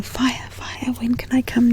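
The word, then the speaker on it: whaea: They see me and they call out, "Fire, fire, can I come to your room?" Or fire, incidentally, it's spelled W-H-A-E-A, and it's a Māori word, and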